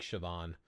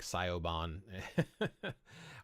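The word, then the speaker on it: Siobhán: how to pronounce them like shoban even though it looks like sioban or how to say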